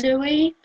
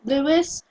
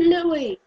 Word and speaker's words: Louis: Jeez, do you need me to lecture you on why it's pronounced Louis and not Lewis? He's from the UK, not from America. You Americans might pronounce it Lewis. We pronounce it Louis.